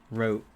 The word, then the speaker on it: Route: It's pronounced Wote. Rote.